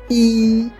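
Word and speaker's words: 一: à 10 en détail le 1 se prononce i y i avec un i qu'on tient comme si on faisait un la on tient la note tout simplement c'est un premier ton que vous avez ici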